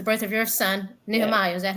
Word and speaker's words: Nehemiah: Nehemiah. Is that how you pronounce his name?